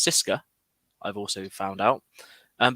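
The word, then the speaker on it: CSKA: there was locomotive spartak csk which is actually pronounced cisca i've also found out um but there was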